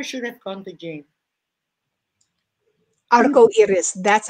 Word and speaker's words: arco iris: Arco iris.